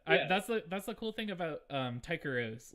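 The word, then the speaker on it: Tycheros: How do you pronounce that? Tykeros.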